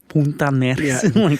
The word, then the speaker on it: Puntarenas: Thank you for using the uh Puntarenas. Thank you for using the proper pronunciation.